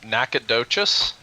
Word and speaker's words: Nacogdoches: do you say that late is this town nacogdoches nacogdoches yeah oh huh that's a hell of